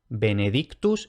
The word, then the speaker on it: benedictus: En general se va a pronunciar T normal, también cuando aparece TH, que es infrecuente pero puede pasar. Entonces, benedictus y thesaurus.